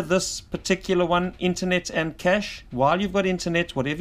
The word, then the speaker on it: cache: personally store the cach I think it's actually pronounced cash I call it cache